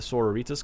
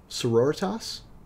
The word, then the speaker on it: Sororitas: some Flack on pronunciation sororitas I'm probably putting a little bit too much of a Spanish tank on the name yeah yeah a a battle there was a battle battle senorita sororitos like a sorority yeah like sorority but with an ass at the end as I look